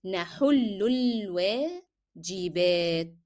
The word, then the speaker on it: نحل الواجبات: Then alif here on L will be disappearing in pronunciation. نحل الواجبات.